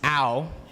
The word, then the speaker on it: Au: Yes, it's pronounced ow, like when you hurt yourself.